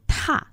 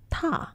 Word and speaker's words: 踏: 嗯，这个踏字它的那个调子啊，它的那个音呢声调偏到了第一声，踏上就不行了。哦啊，要读踏这个字，踏，对，踏